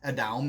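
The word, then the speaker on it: אדם: says that adam was adam adam that's how you say it in hebrew was a white man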